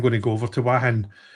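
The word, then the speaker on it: Hua Hin: I'm going to go over to Wahin. It's spelled Huanhuia. Wahin. It's Wahin or Huahin.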